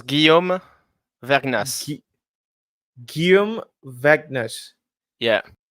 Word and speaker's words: Guillaume: So you pronounce Guillaume.